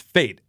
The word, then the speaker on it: Fete: we were talking about your last name and how it is pronounced fate when when I was reading I was like is it fed Fe te and you said fate that's awesome and it's